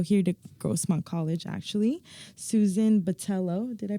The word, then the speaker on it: Botello: used to go here to gront college actually Susan Batello did I pronounce that right you got it also known